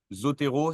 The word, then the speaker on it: Zotero: mais c'est payant et c'est un peu cher Zotero c'est comme ça se prononce Z o T e r o euh